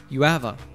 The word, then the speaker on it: you have a: a a wife girlfriend notice that when Daven says you have a he doesn't pronounce the h in have a the a is just pronounced as awwa uh and all three words link together UAV UAV listen again and repeat